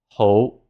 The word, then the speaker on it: 好: Next, we have the word for good, 好, 好. This is our high rising tone.